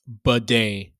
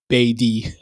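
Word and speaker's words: Badie: Tyler Baddy's name is pronounced bedday similar to Bedet. This is a recent change and he previously went by. Batty.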